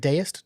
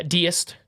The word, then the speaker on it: deist: religious belief is that is it deist did I say it right I think so yeah deist the deist like a deities like a deity yeah and sent the